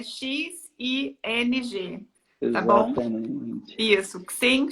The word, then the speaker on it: Xing: O Xing é o LinkedIn alemão, vamos falar assim. Né? Só um minutinho, César. Se escreve, gente, para quem não conhece, é X-I-N-G.